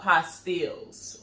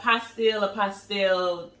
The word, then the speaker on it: apostille: So now let's talk about a little bit about apostilles, right? So now apostille, it's a French word, and they say that it's said two different ways. That's why I said apostille and apostille, because it